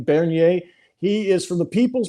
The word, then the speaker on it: Bernier: truth be told thank you Todd yes Max Bernier you it you know you did pronounce well my last name thank you very